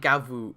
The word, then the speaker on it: Gavv: So like Gavv, the name is in Japanese, it's Gavvu. You could the katakana there is Gavvu. I'm just gonna say Gavv because it's spelled Gav. That's their English romanization. It's just gonna be easier for me to say Gavv. If you say Gavvu or Gav, whatever, up to you.